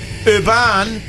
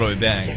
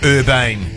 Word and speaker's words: Urban: We've got Karl Urban. Is that how you say it? Or Urbane. Urban. I think it's definitely not Urbane.